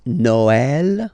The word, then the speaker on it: Noël: tricky thing is that in some cases you will have to pronounce it like eh. Okay, like for instance Noël.